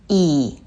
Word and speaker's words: 이: the next one is E. Just pronounce as E in C, but make it shorter. E. The next vowels are E and A.